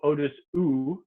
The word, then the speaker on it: au-dessous: So we have you over here and oo over here. And we have two really good examples of this where there's just one letter difference when you spell it, but they mean totally opposite things. So au-dessus means like above, like something is above. Below, au-dessous is below.